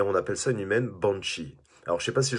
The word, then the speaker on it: banshee: banshee une bonne chimie alors je sais que ça se prononce plutôt punchy en anglais voilà et c'est ce